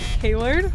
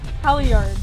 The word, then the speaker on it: halyard: Hallard? Close. Halley sheet. Hallardy. Halyard.